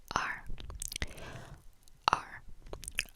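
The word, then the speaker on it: 二: And you pronounce it r, r. So add like a little, so imagine like when you're saying the r sound, which is add, pretend there's like an a or an e in front of it, which is how you spell it, r, r. It comes back from the throat a little bit.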